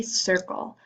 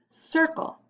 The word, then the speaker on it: circle: The first is a circle. Although it starts with the letter C, it is pronounced circle.